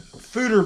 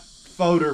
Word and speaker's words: foeder: a special beer a food or beer from Ghost note Brewing so we 've got food or beer not photo beer or however else